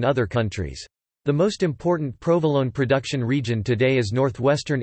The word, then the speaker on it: Provolone: Provolone, pronounced provolone, is an Italian cheese.